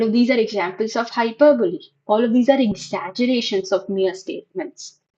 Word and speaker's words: hyperbole: Okay, it's pronounced as hyperbole.